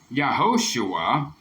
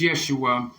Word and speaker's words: Yeshua: Yeshua it is not yua it is not yahushua it is none of these there's Yeshua and if you look at the pronunciation where it says pronunciation right there it